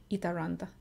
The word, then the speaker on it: Itäranta: it around or with the English are sound eat Aranda ETA actually means east in finish and run